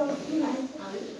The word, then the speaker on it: eau: O à O. Esto acerca bien O. Claro. Si son juntos, oh. el sonido no se dice E-A-U, se dice O.